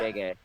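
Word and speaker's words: Gege: GJ had or is it JJ or is it how do you pronounce that? Gay.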